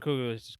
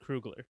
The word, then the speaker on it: Coogler: Ryan Coogler quickly became one Am of I my saying his favorite. last name wrong? I probably am. It's Ryan Krugler.